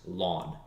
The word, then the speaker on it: ln: base e and that we write as simply ln which is pronounced lawn so instead of continuously